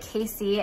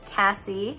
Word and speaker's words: Cassie: review on it and i pronounced it casey and now i know it's cassie i got the pink